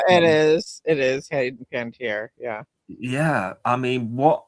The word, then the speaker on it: Panettiere: I'm not quite sure how it's pronounced, but you know, Nikki, Hayden Panettiere. Yeah, it is. It is Hayden Panettiere.